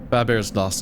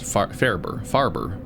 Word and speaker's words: Farber: It's Farber. I corrected myself. I missed the R, so I was like, oh, it's probably Faber when it's spelled without an R, and then I saw the R.